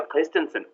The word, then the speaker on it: Christensen: I you know I introduced myself as Christensen but that's a very American pronunciation of the name and if you were to if if if someone in Denmark words introduce themselves with that name it would be Kristensen could you do if